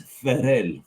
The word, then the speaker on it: Ferrer: And just to help you here, it's Jose Luis Ferrer. There you go. Nice. Much better pronunciation. You got to roll them R's. Ferrer.